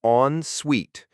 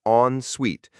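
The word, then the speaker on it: en suite: The pronunciation is on suite. It sounds like two separate words on suite.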